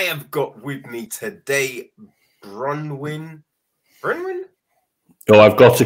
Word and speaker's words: Berwyn: Only I think the best way to think about it is Bear and a win at the end, Berwyn or Berwyn, if you wanted to roll your R's.